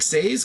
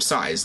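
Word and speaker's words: Saes: It looks like Says because it's S-A-E-S, but even the commentators were calling him Size.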